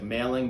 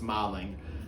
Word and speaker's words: Malling: It looks like Malling, but it's Malling. I learned how everything is pronounced differently in London, and I learned a